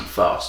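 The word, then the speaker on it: Faust: of fost fost f a u s t fost German yeah German no no hey it was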